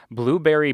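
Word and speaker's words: Blubrry: started podcasting in 2014 is blueberry podcasting and it's spelt b-l-u-b-r-r-y uh so you can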